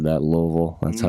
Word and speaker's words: Louisville: You notice how I said that, Louisville. That's I how it's heard that. pronounced, Louisville. Louisville.